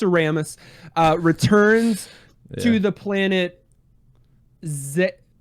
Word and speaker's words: Zebes: It's Zebus. That's how they pronounce it in the games, not in this game, but in the games that they have voice acting. Yeah. Which I don't think that's right. Honestly. I think it's Zeb.